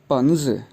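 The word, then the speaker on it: 笔: इसके बाद last word है B और I पे थर्ड टोन है, तो यूँ प्रोनाउंस करेंगे पी।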